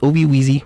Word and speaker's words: Obi Weezy: comom they're also on X at Obi wezy literally Obi wezzy OB wezy is spelled OB i w e z y yes Obi Weezy follow them on all pages and of course